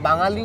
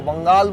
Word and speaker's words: বাঙালি: তারা বাংলাকে এখনো বাংলা বা বাঙালি উচ্চারণটাই করতে পারে না, বাঙ্গাল বলে উচ্চারণ করে।